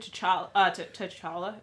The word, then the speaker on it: T'Challa: So, but it kind of did sort of get me started and, like the youth of T'Challa. Did I say it right? I didn't. T'Challa.